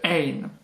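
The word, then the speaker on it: ع: Le ein, qui est prononcé comme un R qui vient du fond de la gorge.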